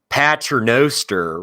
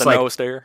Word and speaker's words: pater noster: like anyone can say paternoster, right? But it's Pater like Noster. pater.